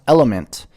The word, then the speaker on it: LMNT: LMNT, pronounced Element, is a tasty electrolyte drink mix with everything you need and nothing you don't.